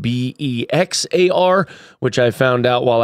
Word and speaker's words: Bexar: Quick note, Bexar County is spelled B-E-X-A-R, which I found out while I was there. I was trying to call it Bexar like an absolute noob. It is Bexar.